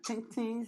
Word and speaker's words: Titi: Yeah, Titi's here. That's how you say her name. Just Titi. Hey, Titi. Titi. Okay. Titi. You know. But there's no S, so that's confusing.